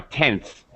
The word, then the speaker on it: tenth: tth I don't re now tenth I'm not really pronouncing the th sound right tenth just quickly going from the end to the S with a little really under pronounced th tense we do this